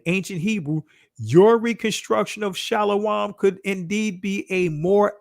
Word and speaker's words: shalom: as you see here people would say shalom but this would be shalawam the this reflects the